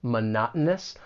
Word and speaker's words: monotonous: When pronouncing this word, it can be a little challenging. It's a longer word, monotonous. The stress is on that second syllable and the t it's going to be a glottle t. This happens when you have the t followed by a vowel sound followed by the n sound.